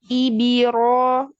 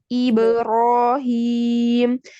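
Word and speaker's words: إبراهيم: Lalu yang kasroh ibirohim. Nah, ini ke bawah ke kasroh tidak, tapi iberohim.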